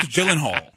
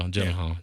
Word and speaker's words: Gyllenhaal: Jake Gyllenhaal. Yeah, see? Yeah. Just say Gillette. That's trending anyway. See, I have some comedic timing. Just say Jake Gillette. Gyllenhaal. There you go. Gyllenhaal.